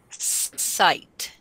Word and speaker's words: sight: mice last layer things sight sight sight very good Ian can everybody say the word sight s and that word is a is a tricky because of the GH is silent we do